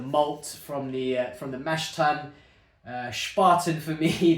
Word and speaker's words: Spaten: Spaten, for me, the way it's pronounced always makes me think of that scene in 300. You know, the one where it's like, Spartans! Or, this is Spartan!